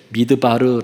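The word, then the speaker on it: מדבר: 여러분 광야라 하는 것은 히브리어의 미드바르 아고 하는 발음을 합니다 미드바르 근데 하나님의 말씀이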